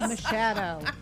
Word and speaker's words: Machado: Machado. I phonetically spelled it because I butchered it this morning, and I apologized already.